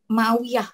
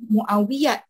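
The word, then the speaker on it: معاوية: Because you don't call him Muawiyat, right? You don't say Betul. if it's in the middle of the word. Yeah, Muawiyah.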